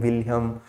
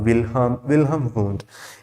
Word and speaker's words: Wilhelm: as wilhelm wundt okay your h is silent or you can pronounce like anything william or wilhelm who is father of